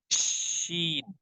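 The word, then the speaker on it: ش: Next word is sheen. Sheen has to be pronounced when this part got the same makharij as that of the jim. This part of the tongue will strike against the opposite part here, and sheen will has to be uttered.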